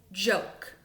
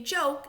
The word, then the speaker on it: joke: my king Edie because if I don't include him in my word it doesn't say joke it says jock and that's a short o sound I hear I want my long oh so I have my